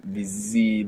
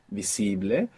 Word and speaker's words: visible: good you're doing here if you're not pronouncing that S as a z like in English visible many people at home will find themselves doing this putting that Z there from English and pronouncing busy we don't want that we want visible and the V is like a soft B if you want more